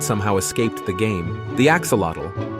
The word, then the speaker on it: axolotl: The axolotl. Looking like a Pokemon that somehow escaped the game, the axolotl, pronounced axolotl, is a type of salamander that never quite grew up.